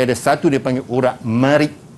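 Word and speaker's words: مريء: Di sebelahnya, depan dan belakang tu dia ada satu dia panggil urat marik. Ejaan dia marik, mim, ra, ya, hamzah.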